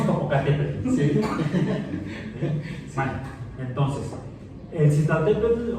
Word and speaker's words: Citlaltépetl: Sí, Citlaltépetl, escuche ese pequeño que se pronuncia. Citlaltépetl, con T al final.